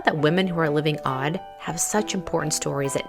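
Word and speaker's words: Awed: to welcome you to The Odd Life that's spelled a w e d which stands for awake well and empowered you see I feel that women who are living odd have such important stories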